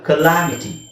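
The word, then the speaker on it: calamity: ಬರಲ್ಲ ಕ್ಯಾಲಾಮಿಟಿ ಅಂತ ಬರಲ್ಲ ಕಲಾಮಿಟಿ ಓಕೆ ಸೋ ಇನ್ನೊಂದು ಇಲ್ಲಿ ಇಲ್ಲಿ ಯಾಕೆ ಆ ಅಂತ ಬರಬೇಕು ಅಂದ್ರೆಎಐಟಿಎಐಟಿ ಇರೋದ್ರಿಂದ ಮಿಟಿ ಅಂತ ಬರುತ್ತದೆ ಆಮಿಟಿ ಅಂತ ಬರುತ್ತೆ ಓಕೆ ನೌ ನೆಕ್ಸ್ಟ್ ಇದುಸಎನ್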